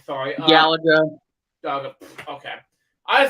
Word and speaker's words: Galaga: How do you pronounce this game's name? Sorry. Galaga.